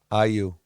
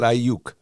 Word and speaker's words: Ayew: Ayew. Ayew. Okay, not Ayuk.